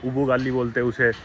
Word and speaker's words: ugali: Họ gọi là ugali. Có người phát âm là ubugali.